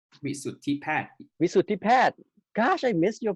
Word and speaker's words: Wisuttipat: Okay, so let Ajahn or Wisuttipat, correct? Wisuttipat. Wisuttipat. Gosh, I missed your pronounce like for a long time.